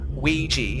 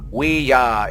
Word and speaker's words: Ouija: want to, is the Ouija board guide. Wait, what do you say? That's how you pronounce it, okay? It's not Ouija. That's usually how people pronounce that word. Ouija is how you pronounce it.